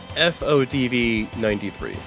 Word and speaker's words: FODV93: Channel name of how it's pronounced, it's FODV93. Like F, and then OD, like ODing on a drug, V, and then 93, like the number 93. All one word.